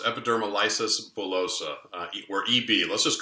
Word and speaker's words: epidermolysis bullosa: and the treatment of hopefully I'm pronouncing this correctly epidermolysis bilosub is that correct very close epidermal lysis bullosa or EB let's just